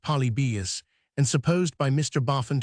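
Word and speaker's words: Polybius: Trajan, and the Antonine, stumbling at Palibius, pronounced Polybeus, and supposed by Mr.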